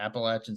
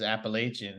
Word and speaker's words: Appalachian: And we could fight over the pronunciation if you want, because everybody that doesn't go there says Appalachian, and everybody that went there says Appalachian, but that's a whole nother thing. I say Appalachian, and I live in Pennsylvania, the Appalachian Mountains.